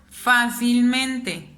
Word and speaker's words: fácilmente: ¿Dónde suena más mi voz? Fácilmente. En el fa.